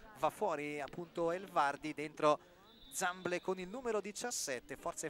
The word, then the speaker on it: Zamble: il numero 17 Zamble, di cui mi hanno confermato la pronuncia, per cui ripeto esattamente quello che mi hanno detto, si chiama Zamble. Perfetto, e allora mette fine,